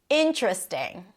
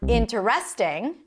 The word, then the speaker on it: interesting: Interesting. It's not interesting. It's interesting.